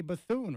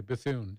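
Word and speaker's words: Bethune: mispronounce my last name how would you pronounce that said it's bethon right that's what I would say bathoon yeah yeah now I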